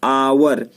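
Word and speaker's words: hour: इसका उच्चारण आइए पढ़ते हैं, आवर। तो अ जो है, आ जो है हमारा क्या है, हिंदी का स्वर है कि नहीं है, इसलिए आर्टिकल एन का प्रयोग किया जाएगा।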